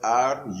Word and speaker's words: rutin: It is spelled R-U-T-I-N, rutin.